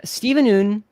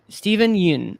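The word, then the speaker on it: Steven Yeun: mink and stephen noon stephen sorry i don't know i've been pronouncing it wrong this entire time i heard an interview it is steven uh yoon steven yun i believe to be the case i could be wrong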